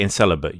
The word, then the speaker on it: incel: who doesn't know that in English for the most part C is a soft s sound not a not a k sound right all right um